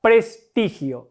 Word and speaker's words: prestigio: Empecemos con la palabra prestigio. Lo primero que hay que hacer es determinar cuál es la sílaba tónica. ¿Dónde recargo la voz? Pres-ti-gio. Recargo la voz en la sílaba ti.